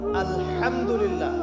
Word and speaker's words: আলহামদুলিল্লাহ: আলহামদুলিল্লাহ। এই হা এর মাখরাজ কোথায়? হায়ের মাখরাজ কোথায়? বলেন একজন কন্ঠনালীর মাঝখান থেকে।